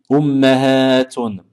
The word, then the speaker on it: أمهات: أجداد جدة جدات Ummun, ummahatun. Et bien prononcer le ha après le mim parce qu'en arabe, le mot ummat existe également et ce sera plus pour désigner les mamans des animaux.